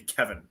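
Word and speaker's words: Kevan: we to be fair his name in the book is spelled with an a not an i yeah it's k-e-v-a-n so technically it should be kavan but yeah you could say that it's gonna be Kevin uh she says she's Chelsea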